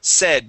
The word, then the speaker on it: said: all right here so instead of saying s using a long a instead of s it is SE said short e try that okay okay